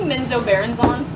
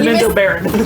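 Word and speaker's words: Menzoberranzan: When you said the Drow City, were you meaning Menzo Baronzon? Yeah, did I mispronounce it again? You said Menzo Baron. You missed the last syllable, and I just wanted to make sure for I mean, my notes.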